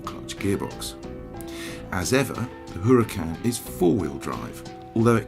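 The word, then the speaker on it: Huracán: the car you were looking at pronounced Huracan replaces the 11-year-old gardo and is according to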